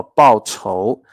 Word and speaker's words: 报酬: 好，我们看第 111 个单词叫报仇，它的发音跟刚刚的报仇一样，但是它